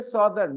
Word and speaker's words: southern: correction to your pronunciation we say Northern Hemisphere but we don't say Southern we say Southern northern southern they don't rhyme they don't rhyme rhyme